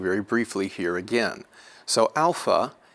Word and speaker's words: alpha: briefly here again so Alpha is going to be pronounced as art a as an art Alpha Beta will be